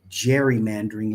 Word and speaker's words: gerrymandering: And then it lost its hard G and became gerrymandering later on.